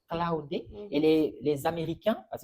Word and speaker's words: Claude: je me trompe pas ils prononcent claudé cloudé et les les Américains